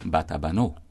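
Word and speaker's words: Batabanó: Notice that in Spanish it is written with an accent mark at the end, right? Which indicates the strong emphasis placed on the last syllable. So, Batabano.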